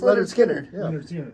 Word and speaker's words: Lynyrd Skynyrd: no this is a this is aard SK leard skard okay and yeah such a weird spelling of